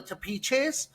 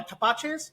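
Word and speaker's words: tepache: It's called the tapiche. Okay. Or tapaches. That's how we pronounce it, I believe.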